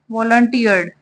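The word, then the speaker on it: volunteer: to fight the lion इसको हम pronounce कैसे करेंगे वालंटियर ठीक है कोई भी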